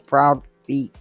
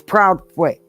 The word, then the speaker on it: Proudfoot: Because it says Proud Feet Meet Molly. It's Proudfoot.